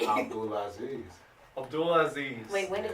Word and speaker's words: Abdulazeez: Abdul Aziz.